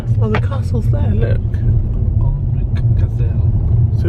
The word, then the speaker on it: Alnwick: None of us know how to pronounce this castle. Alnwick. Yay! 6346. Alnwick.